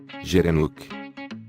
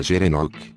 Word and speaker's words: gerenuk: A palavra gerenuk, pronunciada com um G duro, vem da língua somali, que significa gira-pescoço.